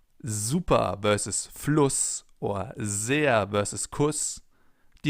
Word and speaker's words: Fluss: Because in front of a double S, the vowel is always pronounced short, as in Fluss or Kuss, for example.